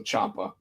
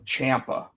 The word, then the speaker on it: Ciampa: Try to find Lio Rush versus Tommaso Ciampa. Okay. Cuz And you know what? I I just said his name wrong. Ciampa. Cuz that's how he actually says his last name, so it's a Tommaso Ciampa.